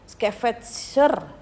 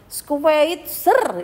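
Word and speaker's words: Schweitzer: lebihnya yang bernama Dr Albert skeveter hmm Bacanya adalah squeitzer Ya kurang lebihnya seperti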